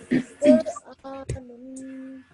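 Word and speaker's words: قرآن: Okay, because it is a sukoon, you have to join the previous letter. And the previous letter is alif with a vertical fatha. So you stretch the alif and then you join it to the noon.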